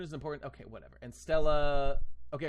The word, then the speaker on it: Stella: And Stella. Okay, right. So like the bodies or whatever. Written as main true body, pronounced as Stella, which means celestial star in Latin.